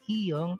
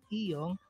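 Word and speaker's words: 이응: lagyan ng consonant na iyong para maging syllable po yung mga vowel na iyon. It doesn't affect the sound value of the vowel because iyong is silent when it is placed before the vowel.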